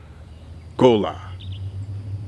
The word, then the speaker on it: Gullah: director what is gullah gola as the original patois would uh have it pronounced right gullah as we now say it is what it